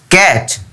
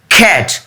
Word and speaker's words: cat: ক্যাট। রং। এটার উচ্চারণ হবে খ্যাট।